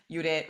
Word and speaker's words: Judit: a few more answers before I reveal what Judith did udit really um is the correct pronouncing pronunciation of her name um sujana um